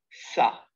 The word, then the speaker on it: ça: On place la cédille sous la lettre C. C. C'est cédille. Elle indique que le C se prononce S. C-A-K. C'est le son que. C'est cédille A, ça. C'est le son se.